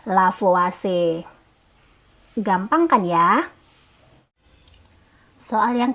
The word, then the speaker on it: Lavoisier: Berarti ini sama dengan hukum kekekalan massa, atau adik-adik mengenalnya dengan hukum Lavoisier ya tulisannya ya, tapi sebenarnya bacanya adalah Lavoisier.